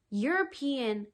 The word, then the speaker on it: European: an like european no european has a consonant sound to it at the beginning it sounds like y oh yeah but no